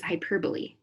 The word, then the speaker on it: hyperbole: what bewitching means the next literary device is hyperbole yep I said it right hyperbole it's a